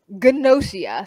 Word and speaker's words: Gnosia: It is called Ganosia, spelled G N O S I A. I wasn't sure how to pronounce it. I really thought the G was silent until I started watching. But Gosia is literally Among Us the anime.